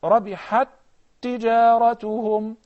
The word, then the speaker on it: رَبِحَتْ تِجَارَتُهُمْ: The first example is the two words, رَبِحَتْ تِجَارَتُهُمْ. Even though, Akram, we have two tas, but we're going to pronounce them as one.